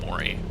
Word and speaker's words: Morey: i think i think the locals say maury just because it's maury field historically anyway right um checklist open